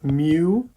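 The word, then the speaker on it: μ: letter which is pronounced mu some people write it mu but you pronounce it as like a cat mu and that's our notation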